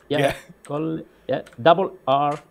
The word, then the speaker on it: Colleferro: How do you spell it? C-O-L-L. Yep. Colleferro.